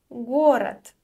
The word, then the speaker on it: город: Let's move on to the next word, and our next word is город. Город. The voiced consonant at the end is pronounced as unvoiced t.